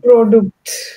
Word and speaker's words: Produkt: Product is not product in German. So, Produkt. yeah, product. Yeah. Produkt. But then there the das. I think product is das Produkt.